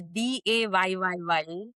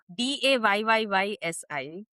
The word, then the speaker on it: Desi: Desi, like Desi. pronounce it as Dayyi. Yeah. Uh, Dayyi. Picture it like that in your head.